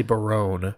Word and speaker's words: Barone: gentleman is eric barone perrone rhymes with baloney or maybe it's baron with an e on the end i would say barone barone that makes a lot more sense adam you have a